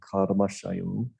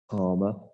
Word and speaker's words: karma: very very different so some people mispronounce they say oh that's your Karma and it's wrong it's not right that's your central enjoyment Karma you've got to flick your tongue if you want to say it right bring your top leg